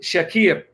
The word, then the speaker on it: Shakir: Some pronounce it Shakir, like Shakira.